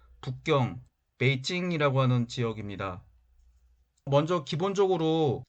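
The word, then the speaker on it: 北京: 펑 이라는 지명 입니다 뒤 논 남경 중국어 발음으로 난 찡 이라고 하는 지역입니다 이 논 북경 베이징 이라고 하는 지역입니다 먼저 기본적으로 장안 소 아니라고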